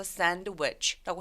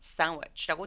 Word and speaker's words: sandwich: 샌드위치도 마찬가지예요. 그래서 샌드위치가 아니라 sandwich, sandwich. 그래서 sandwich라고 해도 되지만 sandwich라고 D소리 삭제.